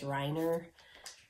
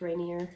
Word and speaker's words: Reiner: to my last name my last name is reiner and this one is rainier but a lot of people think my name is pronounced rainier a lot of times